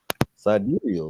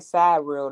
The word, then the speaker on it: sidereal: It's pronounced sidereal. Like I said, sidereal. Mm. It look like side rail to me.